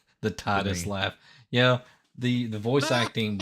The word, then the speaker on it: Titus: do you know they pronounce his name Titus, which is wrong? It's just Titus.